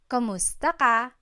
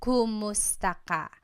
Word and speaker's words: kumusta: you in Tagalog, it's kamusta ka? Kumusta ka? So it's spelled K-U-M, kumusta ka. But sometimes you might hear some people say kamusta ka, like it's a K-A sound.